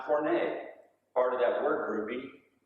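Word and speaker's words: πόρνη: It's pronounced porne, part of that word grouping from which we get our word pornography.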